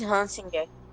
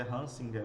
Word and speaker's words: Hansinger: É Hansinger. Então acertei, é Hansinger mesmo, né? É Aham. parecido com Schrödinger, certo?